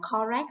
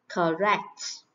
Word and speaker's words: correct: Nhiều bạn đọc từ này là correct là sai nhé. Correct. Ơ ngắn nè. Correct.